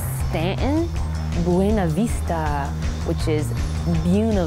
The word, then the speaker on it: Staunton: Staunton, which you call Stanton.